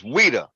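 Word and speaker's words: Ouidah: same way right yeah but it's a Wida it's weeda folks right so so what I'm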